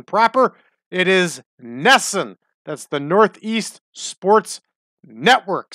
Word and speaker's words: NESN: Color on Nessun that's right I got that pronunciation proper it is Nessun that's the Northeast Sports network still in existence